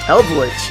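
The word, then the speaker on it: Eldlich: Eldritch.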